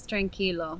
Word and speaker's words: tranquilo: The word here is tranquilo.